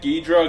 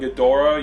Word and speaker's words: Ghidorah: Like, what is it, Ghidra and Ghidorah? You could pronounce it two different ways, right? Yeah, Ghidra, Ghidorah.